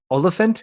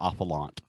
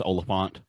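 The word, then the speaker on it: Olyphant: 47, Agent 47, I should say, with Timothy Oliphant. Is that how you say his name? Oliphant? okay, so well, the one with Timothy, I always call him Ophalant.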